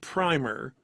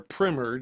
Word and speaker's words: Primer: Pi, especially Pi and Primer or Primr, depending on how you want to pronounce it, are two that almost always show up on people's like top 100 sci-fi movies of all time.